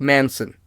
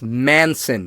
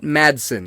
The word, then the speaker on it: Manson: an F by Mark Manson and yes that's Manson not Madson I keep pronouncing it Madson it's Marc Manson like the serial killer this book was a